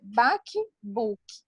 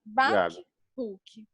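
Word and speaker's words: בקבוק: Aqui o termo botija é um termo em hebraico que é bakbuk. É engraçado, né? E a pronúncia é como se fosse a água gotejando, né? Bakbuk. Bakbuk, como se a água estivesse pingando.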